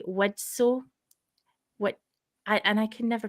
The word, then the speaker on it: Widtsoe: Widtsoe. And I can never pronounce his name. There's a T in there somewhere, and my mouth just will not accept it.